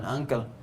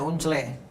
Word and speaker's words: uncle: Ya, uncle kan kita bacanya paman, uncle. Anda baca unsle, kan kedengarannya nggak enak gitu. Ya. My unsle, paman saya, kan nggak enak gitu. Ya, Anda pasti baca my uncle gitu kan?